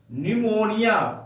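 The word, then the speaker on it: pneumonia: दूसरा एग्जांपल ते है निमोनिया पी एन ई यू एम ओ एन आई ए यहां पर बाबू एन के पहले पी का प्रयोग किया गया है इसलिए यहां पर पी साइलेंट है तो इसका उच्चारण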